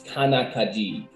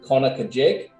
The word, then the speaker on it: Conococheague: Before we get too deep into the questions, help us understand how to pronounce Conococheague. In the Iroquois tongue, it is with more K, it's Conococheague.